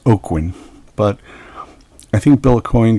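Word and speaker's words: Aucoin: for several years Mike Baron's Badger now Derek oakin it's not aoin there's a manager of the band Kiss called Bill a coin as everybody calls him but it's actually pronounced oakin but I think Bill aoin got tired of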